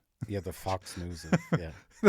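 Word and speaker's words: NIUS: Yeah, the Fox News. Yeah. N I US, which is if you pronounce it in German, it sounds like news.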